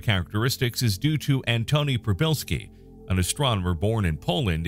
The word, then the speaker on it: Przybylski: On the day of his arrival at Mount Stromlo Observatory near Canberra, when his colleagues heard his name pronounced a bit like Przybylski, there was a pause, after which someone announced